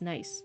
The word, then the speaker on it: Nice: The shoreline had swallowed the countryside from, it's not pronounced nice in French, it's pronounced like Nice, from Nice to Marseille.